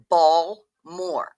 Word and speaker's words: Baltimore: That No, Bmore. B A WL Moore is how it is pronounced by everyone here.